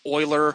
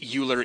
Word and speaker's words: Euler: of a 3D application who are familiar with Euler it's actually spelled Euler e-u-l-e-r but like so many of the fancy names out there it's got a funny pronouncing pronunciation like my favorite is